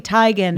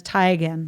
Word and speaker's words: Teigen: a chrissy teigen taken yeah teagan situation it's tegan but she's like it's actually tigen no everyone has said tegan so much that i just say tegan really like the authentic thai pronunciation is tie again well i didn't know that it's okay she's